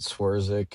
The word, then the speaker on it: Swerczek: Yeah, you pronounce it Swierzic, and um excited to talk some bass fishing with you guys.